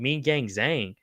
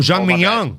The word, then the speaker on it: Zhang Mingyang: Clash New Beat says, what do y'all think about Mean Gang Zhang? Bro, I think he's a fucking... Oh, Zhang Mingyang.